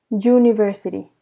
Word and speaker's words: university: say an umbrella but sometimes it is pronounced you university so here it's a consonant sound and you have to